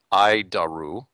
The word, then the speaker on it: ADIRU: data initial reference unit we pronounce it i daru horrible name but i'll keep trying i daru